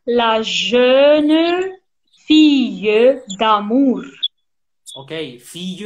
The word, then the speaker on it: fille: Okay, fille, remember, like charmille. Fille, mm-hmm. charmille. Okay, mm-hmm. the same sound.